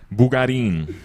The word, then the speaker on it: Bugarin: Bugarin.